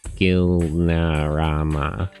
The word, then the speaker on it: Gilnarama: But if they have Caracas down to here, the Gui is pronounced like the Gui in Guild? Oh. So Gilnarama.